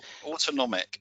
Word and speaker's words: autonomic: Is it autonomic DevOps? Is that right? Autonomic. Yeah, it's pronounced autonomic.